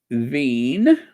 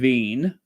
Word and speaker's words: Wien: Wien. That's how you say it in German. Wien.